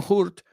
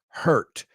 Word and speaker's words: hurt: No hurt, hurt. Quiero que visualices en tu cabeza J-E-R-T. H-U-R-T. Hurt. Así. Así mismo. Y nunca lo vas a pronunciar mal en tu vida.